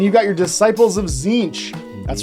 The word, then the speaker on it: Tzeentch: fantastic fantastic and you got your Disciples of zinch that's right that's how you pronounce that word for everyone who said it